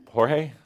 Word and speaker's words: George: Is it George or Jorge? Yes, it is spelled Jorge, but I prefer George.